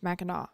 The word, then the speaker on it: Mackinac: minutes before we started, I found out that it's spelled Mackinac and it's Mackinac. I absolutely would have recorded this entire episode. Mackinac.